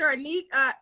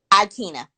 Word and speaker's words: Aikyna: Anika, and I want to, how do you say your first name? Anika? Aikyna.